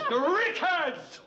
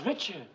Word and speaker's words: Richards: Rickards. You said Rickards. I don't get your point, Mr. Her name is Richards.